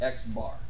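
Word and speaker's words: x̄: incredibly enough Y Bar this exactly how you say it you say xar okay so so far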